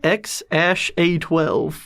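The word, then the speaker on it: X Æ A-12: like like r2d2 it's like a robot name or something like that i think that they said how they pronounce it they pronounce it x-a-12 x 12.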